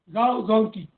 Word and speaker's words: Zhao Zongqi: Zongqi rhymes with an animal. I don't want to name the animal, but Zong and that animal, the last part, I remember it, Zongqi. So, Zhao Zongqi.